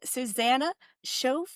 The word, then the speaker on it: Suzanna Choffel: I'm here with Susanna Chael. Am I pronouncing that correctly?